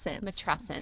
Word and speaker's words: matrescence: It's called matrescence. What? Have you ever heard of this word? Matrescence. Spell it. So it's spelled and sounds similar to adolescence.